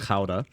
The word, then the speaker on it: Gouda: Okay, I love Gouda, all right? I know the Dutch pronounce it Gouda.